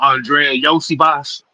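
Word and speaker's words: Andrei Iosivas: You say how the hell you say that name again? Oh, Andrea Yosi Boss.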